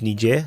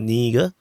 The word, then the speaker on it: Niger: being pronounced wrong uh is nier not ner so anyway uh so